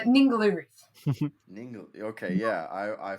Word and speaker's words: Ningaloo: Yeah, out there, is it called Igloo? Is that where am It's I called pronouncing that right? Ningaloo Reef.